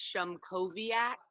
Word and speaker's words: Shumkoviak: Because me and Anthony, whose last name nobody can pronounce, it's Shumkoviak, by the way.